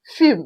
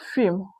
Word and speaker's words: film: You notice that in film we have M, L before M, but the L here is not silent. Okay, the L in film is not silent.